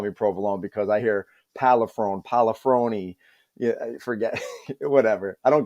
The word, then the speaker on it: Pollifrone: So the last name is pronounced Pollifrone, but because no one ever gets it right, I just say Provolone.